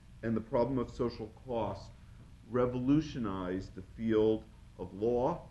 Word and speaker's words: Coase: the insights of the coast theorem uh for the and I believe he he pronounces his name Co rather than the way we pronounce in property Coast uh but the coast